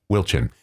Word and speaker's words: Wilchin: And he starts with a W. How do you pronounce his last name? Wilchin.